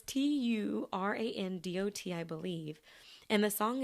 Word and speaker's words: Turandot: I don't know how to pronounce the name of the opera. Turandot. Look, the accent's coming out. Turandot. It's Turandot, I believe.